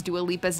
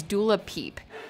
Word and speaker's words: Dua Lipa: about the 2018 Billboard Music Awards Williams hilariously mispronounces dua liepa's name as doula peep what do you think about doula people do